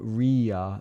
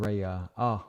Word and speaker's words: Ria: It's more of Ria than Raya.